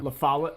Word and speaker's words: La Follette: Follette is how the locals pronounce it. It's where the government How makes do all they the pronounce pigeons it? that spy on La you. La Follette.